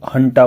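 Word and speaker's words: junta: यहां पे मिलिट्री जो हंटा बोलते हैं जिसको जे यूएन टी इसका जेयू को प्रोनाउंस करते हैं। है हिंदी में। हंता हंता की गवर्नमेंट है।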